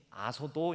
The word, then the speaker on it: 아소도: 중에 하나가 아스도 있데 아스도 헬라 발음이 아소도 있니다 그래서 아소도 지역 그리고